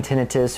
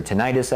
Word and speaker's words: tinnitus: TMJD, whether it be localized pain, the ringing tinnitus or tinnitus, I've heard it pronounced, bruxism, the grinding, immobility, to move the jaw.